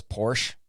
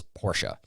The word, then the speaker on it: Porsche: If you thought it's Porsche, it is Porsche. And so I'm just giving you a hard time. People pronounce it differently. I like Porsche.